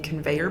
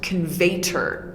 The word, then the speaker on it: conveyor: I thought that the word conveyor like in conveyor belt was spelled and pronounced conveyter but it's not it's conveyor because conveyter isn't